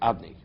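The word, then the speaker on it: אדני: We don't pronounce it based according to its spelling, right? The pronunciation of Yudke Vavke is if it's written Aleph Dal Nun Yud. That's the way we pronounce it. Adni.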